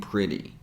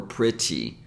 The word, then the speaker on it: pretty: I mentioned before and if you notice both T's are between vowel sounds that's why we pronounce them as a flap t or fast D didn't even take the